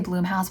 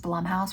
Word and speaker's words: Blumhouse: But when I keep wanting to say Blumhouse, but I guess it's pronounced Blumhouse.